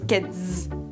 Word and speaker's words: Keds: Ça s'écrit avec un "s", mais ça se dit "ked'z".